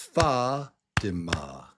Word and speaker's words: Fatima: Fa. So it's Fatima. Fatima. Fatima. Fatima. It's not Fatima.